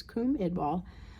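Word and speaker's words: Cwm Idwal: The CWM Idval, or Cum Idval, I say CWM because I used to not know how to pronounce it, then I looked it up. It's Cum Idval.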